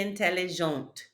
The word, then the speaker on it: intelligente: We would just add an E to make it feminine. Il est intelligent. Elle est intelligente. Again, that E tells you to pronounce that last consonant before it.